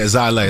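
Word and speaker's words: Xilei: It's spelled X-I-L-E-I. Zai Lei.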